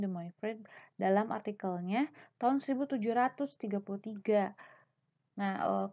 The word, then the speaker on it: De Moivre: kali yaitu Abraham Demokrat De moivre bacanya Abraham Demi free dalam artikelnya ton 1733